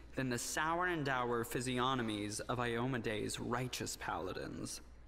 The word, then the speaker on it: physiognomy: actor is right there I'd always pronounce that physiognomy like I'd actually pronounce the G hmm now I feel